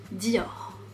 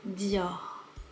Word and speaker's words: Dior: et on le prononce Dior. On le prononce de façon très légère.